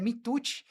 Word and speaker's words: Mituti: mas eu não sei se você sabe que o Mitucci do meu pai é japonês, Não é italiano? não é italiano. Todo mundo acha que é italiano, mas é Mitucci.